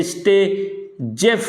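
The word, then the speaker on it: Saytzeff: rule कहते हैं या जिसको प्रोनाउंस करते हैं स्टे जेफ रूल के नाम से भी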